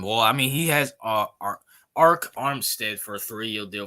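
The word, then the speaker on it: Arik: I mean he has Arc Armstead for a threee deal 51 I think that's a good pickup yeah you pronounce that Eric just like Eric it's weird why they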